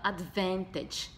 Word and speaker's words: advantage: lá começamos por vantagem vantagem se fala adventuridge em inglês advanced tem que você